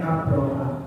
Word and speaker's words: Abraha: najasi dan meminyak dirinya jangan ketukar ya Abraha Abraha jadi bacanya Abraha itu ada du dua-duanya anak buahnya ngajasi kalau Abraha ini adalah budak perempuan miliknya untuk urusan rumah tangga tapi Abrahah yang kedua Jenderal peperangan yang nanti menyerang Makkah dengan